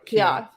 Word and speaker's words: Keough: Keough.